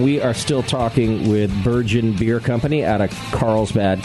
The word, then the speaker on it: Burgeon: Burgeon. Burgeon. We get a lot of Virgin. Yeah. Well, it's derived from burgeoning, like if you were a burgeoning brewery, right?